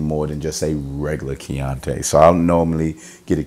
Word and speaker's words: Chianti: A Chianti, not a Chianti, but a Chianti. It's spelled accordingly, Chianti.